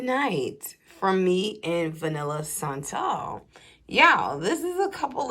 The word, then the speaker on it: Santal: scent notes in the Vanilla Santal. And I'm going to keep pronouncing it like that because we had some perfume educators that used to come to Sephora that taught us about scents, and that's how they would pronounce it.